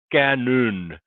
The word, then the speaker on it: Kanon: the oh slash mean so it was cannon that's how the swedes would have pronounced the name and it meant translated